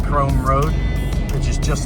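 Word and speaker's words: Krome: This is Chrome Road, spelled with a K. K R O M E.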